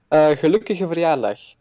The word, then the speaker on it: gelukkige verjaardag: gelukkige verjaardag.